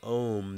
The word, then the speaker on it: Om: saying the word Om, the correct pronunciation so that you get the most benefit from this sacred word, is you're saying ah, oh, ooh, So the ah is at the roof of your mouth.